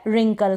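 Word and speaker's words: wrinkle: तो यह है रट तो डब्लू और का बहुत इजी आपको पता चल गया होगा कि जब आलू को हमरो पढेंगे डब्लू इसमें साइलेंट रहेगा तो मैं फटाफट जेम्स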